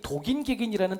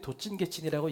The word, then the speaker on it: 도긴개긴: 은지가 정확하게 맞췄어요 도찐개찐이에요 근데 원래는 표준어가 도찐개찐이 아니고 이게 표준어래요 도찐개찐이 그게 그냥 편하게 발음하다 보니까 모든 사람들이 도찐개찐이라고 얘기하지만 사실은 진짜 표준어는이 도긴개긴이라고 합니다 그 의미는 뭐냐면 여러분